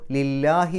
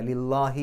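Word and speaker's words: لله: ലി എന്നുള്ളതിന് ശേഷം അള്ളാഹു എന്ന് വരുമ്പോൾ, അല്ലെങ്കിൽ ഏതെങ്കിലും ഒരു കെസറുള്ള അക്ഷരത്തിന് ശേഷം അള്ളാഹു എന്ന് വരുമ്പോൾ ആ അള്ളാഹ് എന്നുള്ളതിന് പകരം ലാ എന്നുള്ള ഉച്ചാരണം കൊടുക്കും. അപ്പോൾ ലില്ലാഹി എന്നാണ് പറയുക, ലില്ലാഹി എന്നല്ല.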